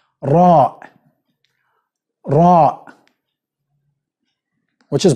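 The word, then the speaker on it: راء: be easy for you English it's gonna be ER which is not correct you have to roll your mouth okay and you can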